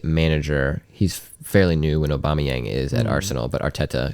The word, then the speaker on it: Aubameyang: of you Pier emmer aubameyang aubameyang abama kind of like Obama yeah it's actually quite